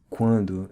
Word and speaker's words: quando: tienes la esencia marcial, notice the difference between the Portuguese quando and the Spanish cuando. You should hear the nasal sound in the Portuguese quando since you have a vowel followed by an N.